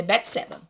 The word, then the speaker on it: Bateseba: Se escreve Bateseba, mas se lê Betseba.